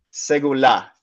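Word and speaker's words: סגולה: posesión especial el hebreo se ve así, se pronuncia segulá y de verdad esa traducción que pones en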